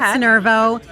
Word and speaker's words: Curvo: Curvo, am I saying it right? You are saying it right. Curvo and really Curvo is